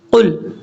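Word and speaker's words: قُلْ: اللہ پڑھیں گے تو یہ قاف دو نقطوں والا ہے، اس کو پر پڑھا جاتا ہے، موٹا پڑھا جاتا ہے، اس کو بریک نہیں پڑھنا، قل نہیں پڑھنا، قل، قل، اس چیز کا آپ نے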